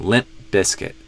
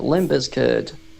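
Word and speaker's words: Limp Bizkit: So I go limp and I just am suddenly cutting the sound off. Limp. And then I release it as a B sound. Limp biscuit. So there's still a stop there.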